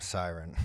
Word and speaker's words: Sirin: with your grief she Sirin I'm siren I like that they pronounce it that way the archon of song